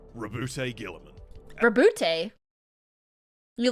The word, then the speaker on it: Roboute: It's Roboute? I've been saying his name wrong the whole time and no one corrected me? I thought it was Robute.